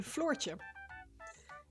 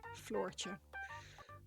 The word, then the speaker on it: Floortje: My name, Floortje, is how it's pronounced. Floortje. But it's hard to pronounce for anyone who doesn't speak Dutch, so I tend to go by Flo here.